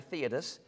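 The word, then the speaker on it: Theudas: Now, I pronounce the guy's name Thudus, and you'll see why in just a second, but it's actually Theodus, boasting himself to be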